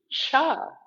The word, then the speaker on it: Chih: The third word is pronounced cha, like chuck wagon, but it is spelled C-H-I-H, sort of like chi with an H on the end.